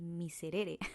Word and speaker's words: Miserere: mitre de Becker pero en realidad no se llama el Míster se llama el miserere lo que pasa es de que pues es más sencillo pronunciar el mísera y pues así se quedó en mi cerebro pero no en realidad es el miserer entonces cada vez que